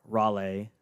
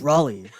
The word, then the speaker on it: Raleigh: Yeah, I mean, I remember I said it wrong. I was like Raleigh, and my dad was like, "No, it's Raleigh."